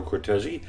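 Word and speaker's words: Cortese: um the conductor is as we mentioned Maestro cortezi am I pronouncing that writers of course that's right of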